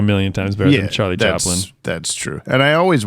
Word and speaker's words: Chaplin: Charlie Chapman? Is that right? Chaplin. My brain was like, James, you're not saying it right, but I didn't know which part was wrong.